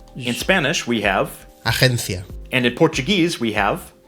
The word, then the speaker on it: agencia: In both languages, the letter G represents a soft G sound rather than a G when it's followed by an E or an I. But the soft sound is different in either language.